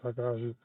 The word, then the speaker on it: Takahashi: It is Takahashi.